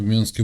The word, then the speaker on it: Минск: декабой А я в Минске был кстати говоря у вас правильно говорить на вашем языке менск Да я не знаю никто это не говорит мянск Минск и всё не ну я просто